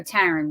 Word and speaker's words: Taryn: So Taryn with a T. It's like Karen, but yeah, with a T.